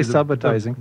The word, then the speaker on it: subitizing: We made the film and found out that we were pronouncing the word incorrectly. It's subitizing, and we had to go back and have the actors dub over to say subitize rather than subitize.